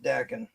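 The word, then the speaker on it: Daken: actually pronounced Dakin.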